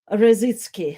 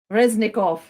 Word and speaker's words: Reznikov: station was expressed by ministry of defense alexei razitski harassing sorry my pronunciation is reznikov yes alexis alexi reznikov and maybe let's uh